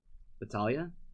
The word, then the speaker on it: Battaglia: oh that's really cool batala sounds like Leah of Italian Battaglia is how you say it interesting yeah it's